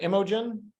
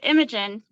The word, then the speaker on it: Imogen: are you doing well did I did I pronounce your name right is it Imogen yeah he did Imogen um okay and I'm guilty of mispronouncing your